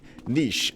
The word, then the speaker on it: niche: But, essentially, niche, N-I-C-H-E. In no other time in English would you ever pronounce C-H-E as ch, if there's not a T.